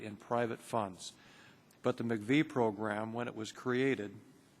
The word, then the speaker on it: MIECHV: but fortunately at least we have the pronunciation of This Acronym and it's relatively simple MCV program so I'm going to